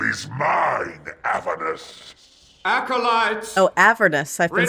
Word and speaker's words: Avernus: Oh, Avernus.